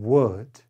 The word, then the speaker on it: would: words could should and would there is no l sound in these words the l is silent could should would number